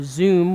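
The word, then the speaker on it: Xoom: Computing Motorola they had the new Zoom which is spelled X oom it's running Android 3.0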